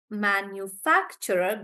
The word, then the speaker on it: manufacturer: so Manu Manu facturer manufacturer good nandini manufact so the stress is on fact and we say manufacturer manufacturer like that and for infrastructure infrastructure